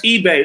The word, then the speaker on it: Ibeh: So that's eBay. It's spelled eBay, but it's eBay. So IBEH. It's eBay, like the. Like eBay.